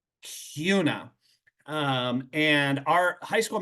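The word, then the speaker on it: Kuna: n a but it's rhymes with tuna Cuna um and our high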